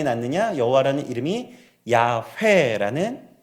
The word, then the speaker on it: 야훼: 여호와라는 이름이 야훼라는 발음이 되었던 것입니다.